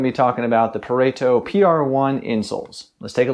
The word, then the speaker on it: Pareto: he did let me know that it is pronounced pareto so pareto if you're curious like i was uh but